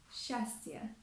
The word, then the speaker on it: счастье: For example, the consonants s and ch standing together are often pronounced as sh. For example, расческа, расческа, считать, считать, and счастье, счастье.